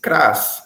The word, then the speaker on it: cras: Nessas duas palavras, nós ainda temos ali na raiz, dentro da raiz, esse Kras, essa sílaba Kras, né?